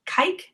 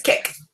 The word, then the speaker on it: Kik: Is it Kike? I think it's Kick. It's a Kick.